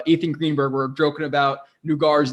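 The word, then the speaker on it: Naggar: Yeah, I'm gonna say the 2 Carters because the Nugar, which is actually how his name is pronounced.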